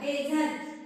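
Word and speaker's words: desert: आय S tennis tennis हा डी ई एस ई आर टी बघा डी चा डे या ठिकाणी एस डी चा झ उच्चार करायचा एस चा द आणि आणि ई चा इस साइलेंट आहे एस चा काय करायचा आहे झ घ्यायचा आहे आणि हा सी चा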